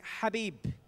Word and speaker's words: Khabib: of khabib and it's the arabic writing habib which is how you pronounce khabib's name and this is also